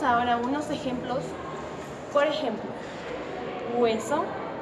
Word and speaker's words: hueso: ejemplos por ejemplo hueso Esa es la palabra correcta de pronunciar pero todos estamos mal acostumbrados y pronunciamos la palabra hueso cambiando la H por la W y a la e y no pronunciándose la pronunciación varía